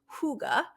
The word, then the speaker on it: hygge: Hygge is spelled Hygge, but it's pronounced hygge.